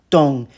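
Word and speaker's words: 棟: And the final 4th tone dong is a measure word for buildings.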